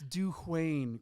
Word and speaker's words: Dwayne: It's Dwayne, Chris. Let's get it Dwayne. right. Poor Dwayne. We've added a syllable in there.